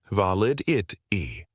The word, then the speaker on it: validity: Make sure you put the stress on the second syllable of validity. Valid it e.